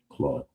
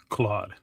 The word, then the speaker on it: Claude: Claude.